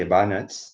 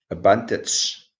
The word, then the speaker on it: advantage: I can say, I can either say advantage, which is the American pronunciation, or advantage of the British pronunciation.